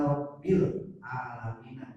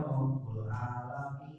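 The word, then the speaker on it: ربِّ العالمين: Indah Rabbu atau Rabbi ya, jadi bacanya indah Rabbil alamin. Jadi jangan Rabbu, jadi indah Rabbil alamin. Jadi kalimat yang ada setelah kalimat indah itu dibacanya kasroh. Jadi indah Rabbil alamin. Sebab ada masih tetap juga indah Rabbul alamin, bukan Rabbul ya. Kecuali kalau indah ini dibuang baru bisa dibaca Rabbul.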